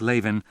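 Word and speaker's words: Lavin: Ira Bloom in memory of her father, David Isaac Leven. Leven. That's right. She pronounces it Leven. L A V I N with a long A.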